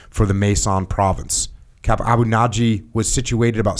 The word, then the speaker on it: Abu Naji: Abu Naji, yeah.